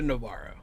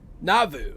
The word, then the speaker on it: Nauvoo: It's called, I was calling it the Navarro. What? So what is it, the Navarro? It's called, like the Nauru or something. Nauvoo. Yeah, it's called the Nauvoo.